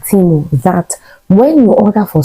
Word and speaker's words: Temu: Some people call it Temu, but it's pronounced Timo.